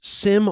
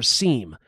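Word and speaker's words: SIEM: incidents as you're Sentinel is a cloud-based cam solution some people will pronounce it as Sim or seam but either way it's a centralized way to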